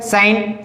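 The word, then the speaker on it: sign: है, तो यहां पर जी क्या हो जाएगा, साइलेंट हो जाएगा। इसी प्रकार ये क्या दिया है, साइन, देखो एन के पहले है ना जी, तो यहां पर क्या हो जाएगा, जी साइलेंट हो जाएगा।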